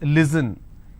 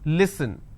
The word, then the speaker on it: listen: For example, if I have the word listen, they pronounce this as listen. It's not listen, it's listen.